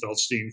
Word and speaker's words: Feldstein: Feldstein.